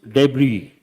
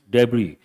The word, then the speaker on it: debris: and make a note the letter s is silent how do you pronounce this debris not deis debris debris means waste materials